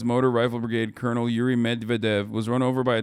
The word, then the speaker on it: Medvedev: The Western official pronounced the name of the killed commander as Colonel Medvedchuk, but didn't give spelling.